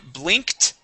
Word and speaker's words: blinked: job let's go to blinked okay with the t ending blinked blinked excellent and this word